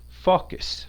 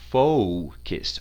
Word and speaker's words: focus: So that O is pronounced like the letter O. Focus, O-U, focus.